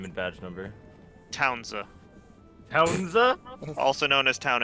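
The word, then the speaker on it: Townsa: If you want there to be, just tell me how you spell it. Nah, Townza.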